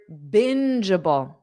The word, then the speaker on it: bingeable: Let's just look at the end part. Okay. Jubble. JJ.